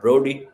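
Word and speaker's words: Brodie: So there's a big name in nuclear strategy Bernard Broady and since he was American perhaps Bernard Broady as the Americans pronounce it.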